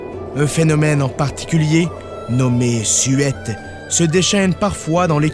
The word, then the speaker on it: suête: Bon, ben, le terme, c'est effectivement dans la langue française, on dirait suette, et c'est appelé de la façon qu'on le prononce. Mais si vous êtes au Cap-Breton, ne faites pas l'erreur, parce que là, on appelle ça des suettes. Et je me suis fait corriger plusieurs fois là-dessus.